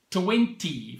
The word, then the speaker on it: XX: It's written double X, but pronounced Glenfiddich 20.